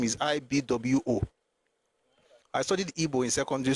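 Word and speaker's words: Igbo: The pronunciation of the name is IB Wo.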